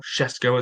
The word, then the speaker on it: Šeško: Šeško, as they pronounce his name.